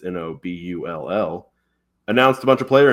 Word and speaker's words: Nobull: The brand Noble, they say it pretty fast, so it sounds like Noble, Noble, but it's Nobull.